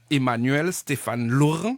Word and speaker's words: Emmanuel Stéphane Laurent: Laurent je sais pas ce que c'est bien prononcé Emmanuel Stéphane Laurent oui ça va très souvent on déformme mon